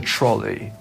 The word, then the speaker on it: trolley: So the British English one, it rhymes with the word lollipop. It's a trolley.